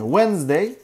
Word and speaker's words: Wednesday: Wednesday. D'yi yazmışlar. Okumuyorlar.